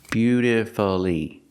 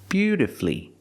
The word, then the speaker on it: beautifully: played the guitar beautifully I cannot say beautifully beautifully four syllables is not correct we pronounce it with three syllables beautifully beautifully put the stress on your first and third syllable beauti F flee flee